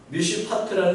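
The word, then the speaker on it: מִשְׁפָּט: 미슈파트라는 정의를 원하셨는데 이스라엘 백성이 맺은 것은 푸악이라고 하는 미슈파흐라고 하는 들포도를 맺었다는 겁니다. 이게 지금 발음을 보면 정의와 포악이 우리나라는 전혀 다른 말이지만 히브리어는 그야말로 굉장히 유사한 말입니다.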